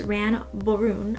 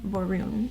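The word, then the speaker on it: Ran Borune: of tondra who is ran baron i think is how you say his name um man varun at least that's how it's spelled to me i would say that and he doesn't want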